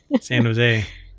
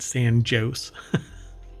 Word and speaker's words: San Jose: sand in Sand Diego San Jose which I'm why do I feel like they probably pronounced it San joose most definitely well because I